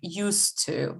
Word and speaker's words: used to: We pronounce it as one word, used to, yeah?